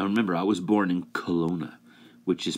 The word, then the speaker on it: Kelowna: Now, remember, I was born in Kelowna, which is pronounced K. Lo-na, which is like clown A.